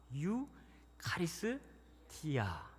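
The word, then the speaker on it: εὐχαριστία: 카리스 앞에다가 유, 카리스 뒤에다가 티아 붙이면 됩니다. 유 카리스 티아.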